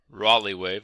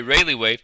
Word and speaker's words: Rayleigh: One is a Rayleigh wave, or Raleigh wave. To be honest, not sure which way to pronounce that, but it looks to me like Rayleigh. Okay, Rayleigh wave, so that's how I usually pronounce it.